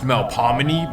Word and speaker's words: Melpomene: Now, technically, it should be pronounced Melpomene, but it's New Orleans.